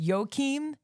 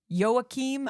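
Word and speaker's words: Joachim: Uh the thing that I know is this is directed by I think it's pronounced Yokim Yookim. I'm not exactly sure.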